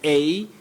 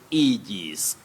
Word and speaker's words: aegis: That is A-E-G-I-S. You say aegis, aegis.